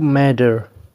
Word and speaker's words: matter: You matter. ته مهم یې. You matter. دا matter نه دی. ډبل ټي به د ډي په رقم تلفظ کوئ.